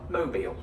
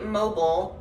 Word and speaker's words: Mobile: If I'm referring to the place in Alabama, mobile. I'd say mobile for phone or for home, and mobile for mobile.